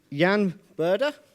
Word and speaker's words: Jan Burda: So I'm introducing Jan Burda. Is that pronounced correctly?